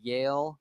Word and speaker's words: Yale: called Yale I Street knew it was Shelter. one word. I knew it was one Yale.